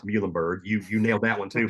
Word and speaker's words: Muhlenberg: But we actually put mules on each one of these Muhlenberg products because we want to help people sound it out and say it.